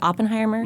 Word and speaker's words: Oppenheimer: not so this is J Robert you said Oppenheimer that's how you say it okay father of